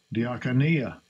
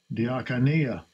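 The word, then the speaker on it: διακονία: Diakonia. Diakonia. That's how it's pronounced.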